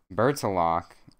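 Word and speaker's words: Bertilak: worries how do i pronounce that let's see vertilac how do i pronounce it pronounce it for me this website do it bert's a lock you all right whoa bits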